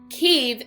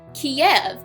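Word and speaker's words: Kyiv: and before we go ke is the Ukrainian pronunciation Kev is the Russian one it's a amazing how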